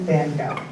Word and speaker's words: Gogh: this famous fella, Vincent van Gogh. And I'm just going to use the sort of English-American pronunciation of his last name. If you've ever been to the Netherlands, it's a much more guttural sound.